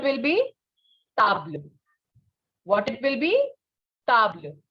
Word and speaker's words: table: So table in French is the same as in English, spelling wise, but not pronunciation wise. Pronunciation will be table.